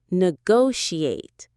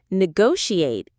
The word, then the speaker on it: negotiate: The stress is on the second syllable. Negotiate. What part of speech is it? Negotiate is a verb, an action word.